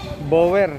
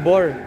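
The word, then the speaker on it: Boer: gandang klaseng kambing may asking price na Php20,000 bower bower ang tawag dito pero pronunciation pala doon bor analo sa pang m dumalaga lalaki ngaga sa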